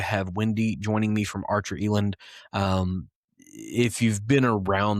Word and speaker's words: Archer Eland: I have Wendy joining me from Archer Eland, and I think that's how you pronounce it.